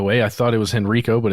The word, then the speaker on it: Henrico: it by the way I thought it was Henrico but it's Henrico County and you can do